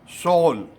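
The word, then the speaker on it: 서울: क्यों व्रत करते हैं साउथ कोरिया की राजधानी है शोल हम लोग सियोल बोलते हैं एशियन कैद हुआ था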